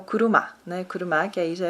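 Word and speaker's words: 車: Só que tem outra pronúncia no japonês, que é o kuruma, né?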